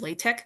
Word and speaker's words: LaTeX: um exposure to was um a program called Latte. It's spelled L A T X like Latex, but it's pronounced Latte.